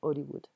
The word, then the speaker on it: Hollywood: souhaite travailler à hollywood en français on prononce pas le hb donc hollywood situation donc quelle serait